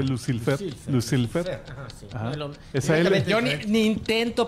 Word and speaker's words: Lucilfer: se llama crolo lucilfer crolo no Lucifer sino que lucilfer yo ni intento pronunciarlo